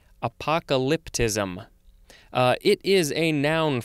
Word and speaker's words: apocalyptism: have apocalypticism or apocalyptism that is a weird word to say because the emphasis on the syllables at the end gets real funky apocalyptism uh it is a